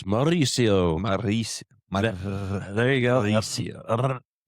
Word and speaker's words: Mauricio: You got to roll your Rs. Mauricio.